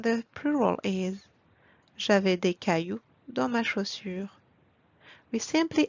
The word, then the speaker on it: cailloux: And please do not pronounce the X at the end. Let's read those exceptions together. Un chou becomes des choux. Un bijou becomes des bijoux. Un caillou becomes des cailloux.